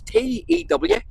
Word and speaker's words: Tewkesbury: And it was built with highly polished white sandstone as an exact model of, try and pronounce this, Tewkesbury Cathedral. It's Tewkesbury.